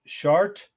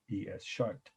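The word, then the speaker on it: Chartres: being on the final our second must know chart cathedral facade and chart is c-h-a-r-t-r-e-s that's a city in france it's about 100 miles outside paris again c-h-a-r-t-r-e-s short cathedral facade for me the mispronunciation of my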